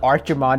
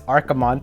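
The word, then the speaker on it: Archimonde: pronunciations, like, you know, it's not Archimond, it's Archimond.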